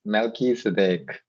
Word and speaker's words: Melchizedek: Okay, so my name is pronounced as Melchizedek. In English, the pronunciation is Melchizedek, and it's a Hebrew name, right?